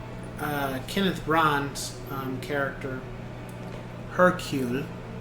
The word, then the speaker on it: Hercule: And uh Kenneth Brun's um character, Hercule, that's how you say his name.